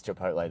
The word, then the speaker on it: chipotle: Because I've known how to say it's chipotle the whole time, like, I always knew that, but I just didn't want to, I just say funny things sometimes.